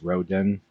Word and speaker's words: Roden: Bill, I was pronouncing that name correctly, right? It is Roden.